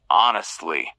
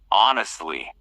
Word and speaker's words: honestly: Honestly. Remember the H is silent. Say it clearly. Honestly.